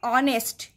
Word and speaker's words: honest: Here also the first alphabet is H. The consonant sound of H is H. But when we pronounce, जब हम pronounce कर रहे हैं, शब्द को पढ़ रहे हैं, at that time it इज ऑनेस्ट. ONEST. एच सामने तो लगा रहेगा लेकिन एच पूरी तरह से चुप रहेगा.